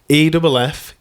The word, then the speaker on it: effulgent: EFFULGENT.